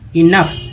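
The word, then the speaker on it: enough: self sufficiency alone is नॉट इनफ, ओ यूएच को ऐसे usage को फा बोलते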